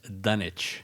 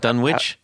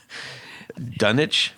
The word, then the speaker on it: Dunwich: I said what did you say d you pronounce it as dunich oh dunich not Dunwich no do you say greenwitch Village yeah okay you say Grenich so so how is it pronounced dunich dunich d d I guess it is yeah that